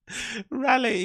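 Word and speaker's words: Raleigh: of RA of rale um North Carolina R rally you can't pronounce rally I don't know why he can't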